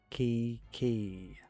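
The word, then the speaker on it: Qiqi: Nana, we we both know Kiki is like a great character and it is pronounced Kiki.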